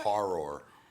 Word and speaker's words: horror: all right thank you so horror horror two syllables otherwise it sounds like something else thank you for the